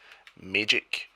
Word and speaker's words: Maegyck: It's actually infused with this world's version of magic, which is magic, but it's spelled Maegyck, magic.